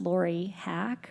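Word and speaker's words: Laura Hack: My name is pronounced Lori Hack, rhymes with yak, and I do like to talk.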